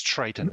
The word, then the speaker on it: Triton: Just to correct, it's Triton. I mispronounced it the first time. So it's Triton.